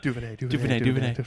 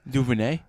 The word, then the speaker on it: DuVernay: Yeah, it was like, DuVernay. I was like, let's Google. Tell me how to say it. DuVernay.